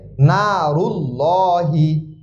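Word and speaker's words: الله: বা একত্রিত হয় এক্ষেত্রে অবশ্যই যদি পেশ থাকে নারুল্লাহি নারুল্লাহি এক্ষেত্রে অবশ্যই কি করতে হবে মোটা করে পড়তে হবে নারুল্লাহি লাহি লর মতন উচ্চারণ হবে অর্থাৎ একটু মোটা হবে মোটা আমার নারুল্লাহি নারুল্লাহি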